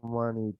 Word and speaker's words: many: So if you say money, this word using the pronunciation of money, the meaning of the sentence can change. How many brothers do you have? Or maybe the sentence cannot have sense.